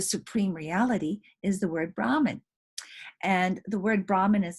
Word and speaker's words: Brahman: accent on which syllable when the accent is on the first syllable brahman right that refers to the priest okay brahman when the